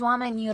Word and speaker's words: oameni: Sounds like the I is silent in Roman and mulți, but not in oameni.